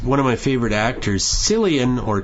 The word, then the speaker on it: Cillian: I kept meaning yesterday to look up how to pronounce the man's name. He's one of my favorite actors, Cillian or Killian or even Cillian Murphy.